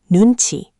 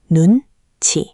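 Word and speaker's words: 눈치: And that brings us to one of my favorite Korean concepts, nunchi. This is the art of reading the room. You can see it on screen. Nun. Chi.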